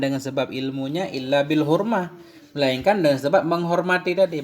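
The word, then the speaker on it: حرمة: Tidak sampailah oleh siman yang telah sampai ia melainkan dengan hurmah. Bacanya hurmah, melainkan dengan penghormatan.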